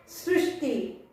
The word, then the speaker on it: सृष्टि: देखो तुरंत ष्टि का उच्चारण हो रहा है, रुक रहे हैं, बोलकर तुरंत रुक रहे हैं, सृष्टि, ओके।